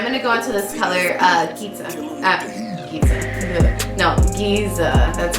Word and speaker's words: Giza: And I'm gonna go into this color, Giza.